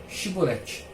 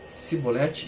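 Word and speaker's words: shibboleth: que não o gil que ele pronunciasse a palavra shiboleth se não fosse capaz e ele não se ele não fosse não fosse capaz de pronunciar a palavra e ele pronunciasse cebolete em vez da chevrolete ficava claro que estava mentindo nesse caso ou perdi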